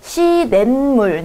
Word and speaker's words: 시냇물: 시냇물 니은이 한번 덧나죠.